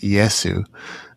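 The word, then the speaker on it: イエス: I looked into this a little bit as well, nowhere near as much as you, but in Japan, it's pronounced Yesu.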